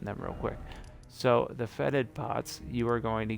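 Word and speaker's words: fetid: didn't show you the fatigue pot faded or however you say it for deep i think it's feted pots it's feted pots i say it wrong all the time by the way i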